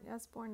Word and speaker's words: Usborne: right now it's using the usborne as born is how you say it encyclopedia of world history